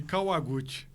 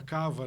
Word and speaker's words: Kawaguti: Porque a pronúncia correta qual que é? É Kawa, de Kawaguchi. Kawaguchi. Mas virou nome de guerra, Cava, né?